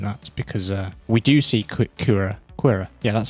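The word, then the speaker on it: Qi'ra: I've also been doing that because we do see Kira. Yeah, that's how you pronounce her name.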